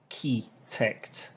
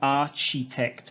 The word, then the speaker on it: architect: with this is a key tech the problem is here ch again it is not architect okay architect architect okay